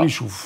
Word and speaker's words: Richoufftz: Donc en fait, il paraît qu'il ne faut pas prononcer le TZ, c'est ça? Parce que le TZ a été rajouté au cours de l'histoire, on ne sait pas pourquoi.